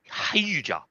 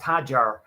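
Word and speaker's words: Hadjar: I think it's pronounced Isaac Hajar. Hajar.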